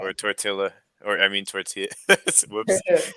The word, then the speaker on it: tortilla: double L yeah, is just a Y sound. like So like llaves. llaves, right? Or tortilla, or I mean tortilla.